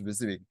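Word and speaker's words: WYSIWYG: have something like it's like this viig we pronounce this one as viig it stands for what you see is what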